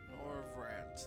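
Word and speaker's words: Norvrandt: Norvrant, that's how you say it.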